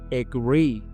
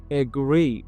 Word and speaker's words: agree: Agree. You can see it's a verb and the pronunciation is agree. As I mentioned earlier, it is started with schwa.